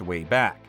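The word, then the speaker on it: WABAC: time in Mr peab Buddy's way back machine that's pronounced way back he's a sort of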